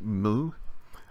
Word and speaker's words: mu: kite the letter mu it's not usually pronounced mu its mu the sound that a cow makes the shape in the